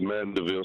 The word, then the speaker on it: Mandeville: Let's talk to, make sure I'm saying this right, Mandeville. Am I saying it right, Mandeville? It's Mandeville, sir.